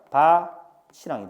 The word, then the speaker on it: 밭이랑: 저거 저 밭랑 논이랑 저거 다 낼 거야라고 얘기했을 때 이거 발음 뭐야? 이거는 그냥 바치랑이 됩니다. 아, 다부터 알려주면 이건 바치랑 맞아.